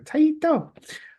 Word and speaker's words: Taito: Taito. I think that's how they say it, because I remember from Bust the Move too. Like Taito. Yep.